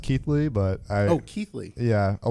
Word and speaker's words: Keighley: Keeley yes Keeley that works out it's pronounced Keithley but oh Keithley yeah a lot of people say Keely and I'm not stickler on pronunciation no nice